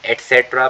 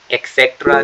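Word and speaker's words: etc.: gun knife Baum एटस इसे हम एट सेट्र पढ़ते हैं अगर आपको याद हो मैंने आपको बहुत बार पढ़ाया है एक्सेट्रा नहीं होता एट्स होता है एट सेट्र एट्स okay so weapon means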